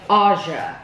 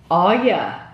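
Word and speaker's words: Auja: I would say Aja. That's how I would pronounce that.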